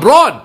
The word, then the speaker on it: born: Not born. Born. I was born. I was born. In no. Huh? You say brawn, not brawn. Born. Born. B-O-R-N. Born. Born. I was born. The R is silent.